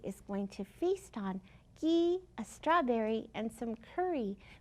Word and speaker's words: ghee: It's called ghee, and it's used in a lot of Middle Eastern dishes. Let's see if it rhymes. Ghee, strawberry. Yes, it does. Ghee, strawberry. They both say E at the end.